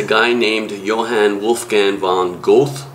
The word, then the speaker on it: Goethe: named Johann Wolfgang von Goethe or girder as people who know how to pronounce things properly might say he was 60 when